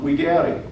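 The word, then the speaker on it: videri: You hear the V being pronounced as a W? Esse quam videare.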